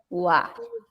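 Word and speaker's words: は: Esa es la sílaba ja, pero ojo aquí, porque lo vamos a leer como wa.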